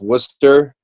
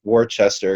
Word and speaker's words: Worcester: for everybody it's pronounced Worcester it's about the bwick Worcester right right but spelled the wor c est er which everyone says Worchester even though there's no H there but that's just correcting